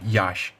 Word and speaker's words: Yaas: कई लोग इसे साइक्लोन यास बुला रहे हैं बट इट is actually pronounced एज cyclone याश।